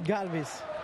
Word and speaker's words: Galvis: home because everybody wants to know is it Galvis is it Galvis how how are you pronouncing it's Galvis Galvis I got it right galve well there